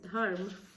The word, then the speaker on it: Dharma: So let's read Dharma, or which is some of you all also call it Dharma, but the pronunciation is Dharma.